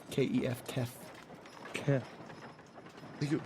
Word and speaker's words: Kef: You say Kath? Kef. K-E-F, Kef.